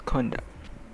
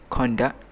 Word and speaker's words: conduct: example which is conduct there are two ways to pronounce conduct the first one is conduct the second one is conduct so for the first